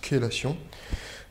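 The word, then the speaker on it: chélation: La kélation qui s'écrit en fait chezation mais qui se prononce kélation.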